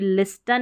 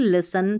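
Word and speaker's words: listen: इसको भी लिस्टन नहीं लिसन पढ़ेंगे, यहाँ पर भी STEN है, टी साइलेंट है।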